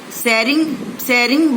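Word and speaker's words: Tsering: Sering, beta aage T dekh lo, T is silent. So we will say Sering only.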